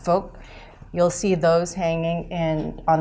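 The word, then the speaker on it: 福: It's pronounced folk.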